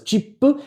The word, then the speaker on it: CIP: And a fun one in romanization is cip pronounced as chipu, which etb comes into play.